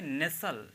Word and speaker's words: nestle: ये हो गया NESTLE, ठीक है, NESTLE, तो इसको क्या पढ़ेंगे, नेसल, इसको हम नेसल पढ़ेंगे, ये टी यहाँ पे साइलेंट रहेगा, टी को हम नहीं पढ़ेंगे, इसको पढ़ेंगे नेसल।